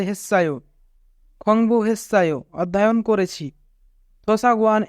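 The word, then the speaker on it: 했어요: এখানে বাচ্চিমের পরে ইয়ং থাকার কারণে বাচ্চিমটি ইয়ংয়ের স্থানে যাবে, অর্থাৎ সাংসিয়ত ইয়ংয়ের স্থানে যাবে, তাই উচ্চারণ হবে হেসায়ো।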